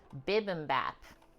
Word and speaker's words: bibimbap: It's not bib, it's bibimbap.